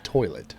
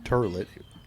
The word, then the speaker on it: toilet: It was toilet, not turlet.